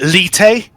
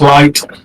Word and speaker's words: Light: you pronouncing your name is it litay just light light okay um okay light it's